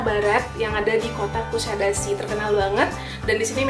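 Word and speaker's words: Kuşadası: Kalau tulisannya sih Kusadasi, tapi ada cengkoknya gitu, Kusadasi gitu. Begitulah orang Turki pelafalan namanya.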